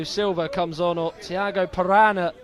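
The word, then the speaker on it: Parana: comes on or Thiago piranha on his shirt not actually spelled like the animal p-a-r-a-n-a this is surname but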